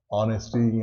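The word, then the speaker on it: honest: के बाद जो साउंड, जो एच का साउंड वो आता ही नहीं है। जैसे ऑनर, रिस्पेक्ट देना, ऑनेस्टी या ऑनेस्ट, ईमानदारी, ईमानदार, आवर, घंटे की बात करते हैं हम, तो यहाँ पे एच साइलेंट हो जाता है।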